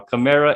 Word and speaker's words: Kamara: is similar, the closest thing to Kamara, not Kamara. I know how to pronounce it now. Kamara and Mark Ingram.